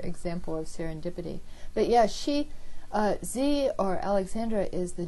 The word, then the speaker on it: Xie: It's pronounced She in Chinese.